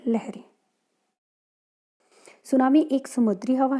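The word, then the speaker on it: tsunami: उसके बाद में सुनामी सुनामी इसमें टी साइलेंट है टी एस यू एन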